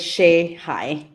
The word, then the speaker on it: Shehaj: My last name is pronounced as Shihai.